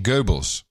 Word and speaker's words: Goebbels: By the way, there's no R in Goebbels, just because I love you.